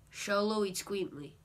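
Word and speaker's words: Xoloitzcuintli: and its full name is pretty hard to pronounce mostly the east queen eats queen so show low eats queen tweet show low eats queenly so it's just show low eats queen please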